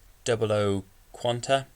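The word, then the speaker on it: 00 Qan[T]: So to begin with, the GNT quadruple zero double zero quant, aka 00 quant, 00 quant T, pronounced 00 quanta, is the successor of the GN quadruple zero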